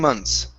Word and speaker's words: months: months in the ensuing months in the ensuing month okay now a trick with the word months okay is not to pronounce the th so instead of saying